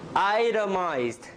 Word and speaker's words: itemized: Itemized. T becomes a flap.